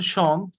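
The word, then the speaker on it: chantent: okay now pronounce them m is not pronounced at the end so ill sean or l sean okay now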